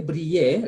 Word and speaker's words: briller: So we say briller. Remember, ILL is Y.